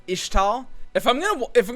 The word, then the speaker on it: Ixtal: malphite is like from ixtal apparently it's pronounced ishtal if i'm gonna if i'm gonna pronounce it ishtal i'm gonna have to